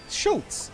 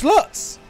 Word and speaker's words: Schlutz: Schultz. Schlutz. Oh, it's Schlutz! As in sluts!